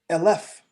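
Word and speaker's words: אֶלֶף: in Hebrew, I say elef. Notice the difference between 1 and 1,000 is a vowel shift. 1 in Hebrew is aleph, 1,000 is elef. All I did was shift the pronunciation.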